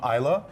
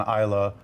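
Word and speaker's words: Islay: A lot of people mispronounce it as is or because it's I l a y. But if you want to sound cool, ISO, that's how they pronounce it in Scotland.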